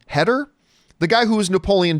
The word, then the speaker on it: Heder: Remember the actor John, I think you pronounce his last name Heder?